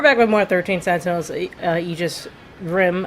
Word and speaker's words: Aegis: We're back with more 13 Sent Eegis Rim. I keep saying Igus, but apparently it's Eegis. Eegis rim. I guess the A is silent.